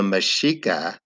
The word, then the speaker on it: Mexica: aztec heritage and so mexican actually is pronounced the axe makes ash so the mashika are actually mexica which and then the people are mexican and mexico is the city of the mashika so that's why the